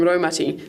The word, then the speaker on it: Raumati: The ro from Raumati sounds like rowing a boat.